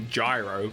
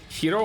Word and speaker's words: gyro: You can say it how it's, you can pronounce it phonetically, which would be gyro, but isn't it like hiro or something like that? Like it's actually H sounding in English-speaking vernacular?